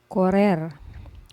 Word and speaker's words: correr: So we pronounce this with a roll of the tongue. This is hard R. R. R. Okay, for example, correr. Correr, which means to run.